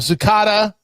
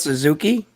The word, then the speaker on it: Suzuki: yes he he did do this and uh zuka came out and with a am I saying it wrong nor nor Shak wait how do you say his name are you talking about Suzuki I'm sorry mean you mean Suzuki right Suzuki